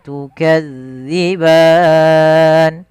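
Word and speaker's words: تُكَذِّبَانِ: Fabi ayyi ala'i rabbikuma tukadziban. Kemudian kuma mad tabi'i, tukadzi. Hati-hati di dalam hafal huruf zal, jangan sampai kita membacanya dengan bacaan huruf zai.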